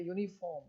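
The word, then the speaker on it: uniform: है लेकिन यूनिफॉर्म कते यूनिफॉर्म तो पहले य उच्चारण हो रहा है य उच्चारण तो य क्या है कंसोनेंट हैके साथ एन नहीं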